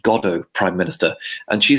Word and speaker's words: Godot: compared something to waiting for godo but she pronounced it goddat you know heart t at the end and her foreign secretary lord carrington uh which is lead over whispered uh is pronounced godo prime minister and she said how is it